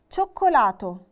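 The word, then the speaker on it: cioccolato: عندي كلمة شوكولاتو شوكولاتو.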